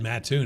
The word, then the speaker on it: Mattoon: The fact that he said Mattoon, you know how to pronounce it, right?